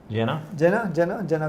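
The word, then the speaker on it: Gena: How's her pronounce that? G-E-N-A. Jenna Gonzalez.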